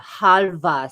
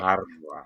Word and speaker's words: halva: Halva, Spike. Halva. Say it. Harva, harva."